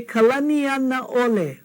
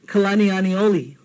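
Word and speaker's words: Kalanianaʻole: Yeah, we hear kalaniani oli. I don't know how you get kalaniani oli out of kalaniana ole.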